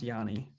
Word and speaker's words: Gianni: Selves like Giani. I think it's pronounced Yanni. It is I I'm almost positive it's pronounced Yanni.